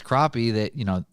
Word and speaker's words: crappie: Ryan, I know it's less exciting size-wise, but these crappie that the max size of those things are like 18 inches.